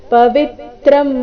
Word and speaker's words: ಪವಿತ್ರಂ: ಪವಿತ್ರಂ ಪರಮಂ ಭವಾನ್ ಪವಿತ್ರಂ ವಿ ಮೇಲೆ ಆಘಾತ ಪವಿತ್ರಂ ಪರಮಂ ಭವಾನ್ ಪುರುಷಂ ಶಾಶ್ವತಂ